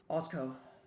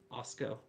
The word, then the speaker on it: AWSCO: how do you pronounce the acronym of this series Osco Osco okay yeah it's not that difficult yeah the the W just threw me off a bit not a great warm-up